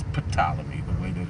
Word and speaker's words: Ptolemy: It's really pronounced Ptolemy, but it's Ptolemy, the way that it's spelled.